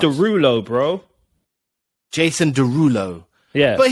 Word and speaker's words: Derulo: How's it pronounced? It's Derulo, bro.